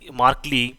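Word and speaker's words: markedly: अन position और मार्क्ड मार्कले different देखिए इसको क्या बोल सकते हैं हम लोग मार्कले बोल सकते हैं यहां पर क्योंकि दी जो है उसमें साइलेंट हो जाता है सैम बोल सकते हैं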